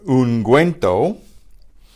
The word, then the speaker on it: ungüento: But what Spanish does to harden it is to use a U, but if we want the U pronounced, they put a diaresis on it. So you have the ungüento and lingüístico.